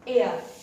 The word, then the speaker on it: heir: Second है HEIR, एयर. इसमें H जो है वो साइलेंट है, इसको बोलेंगे एयर.